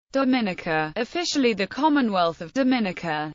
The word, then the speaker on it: Dominica: gained independence in 1978 its name is pronounced with emphasis on the third syllable related to its former Dominique Dominica has been nicknamed that